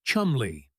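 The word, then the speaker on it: Cholmondeley: Among Godfreyy's staff was a young officer named Charles Chmanley, pronounced Chumley, an inventive thinker working with MI5's double cross committee.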